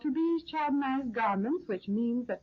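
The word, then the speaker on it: Tubize: They're called to-be's chardonnized garments, which means that the fabric is a to-be's, and to-be's is spelled T-U-B-I-Z-E, rayon pre-tested for tailoring, washability, and wear.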